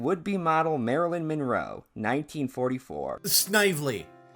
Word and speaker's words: Snively: Emmeline Senville, director of the Blue Book Modeling Agency, counseling would-be model Marilyn Monroe, 1944. Snively.